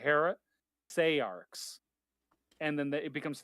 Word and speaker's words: heresiarchs: So all of the pronunciations I'm finding on various dictionaries give different pronunciation guides where the stress is either on the second or the third syllable. The main thing I was going after, though, was Jack was saying the third syllable should be pronounced as an A vowel instead of an E vowel.